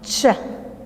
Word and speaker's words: chef: pronounced cap cook but the C H in chef is pronounced chef chef okay while the